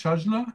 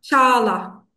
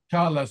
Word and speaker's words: Çağla: Shajla? Çağla. Çağla. Chala. So the G is not pronounced. It's Yes, silent. yes, it's silent, and the first letter is ç.